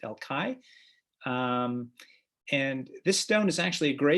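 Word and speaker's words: El Call: Here I'm showing you a stone in the old wall of the city in the Jewish quarter called El Kai. It's spelled C-A-L-L, but it's pronounced El Kai.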